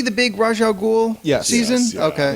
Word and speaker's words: Ra's al Ghul: pissed me off about it is everyone says Ra's al Ghul. Well, that's because Christopher Nolan fucked everybody. Yeah, and then the actual man goes Ra's al Ghul.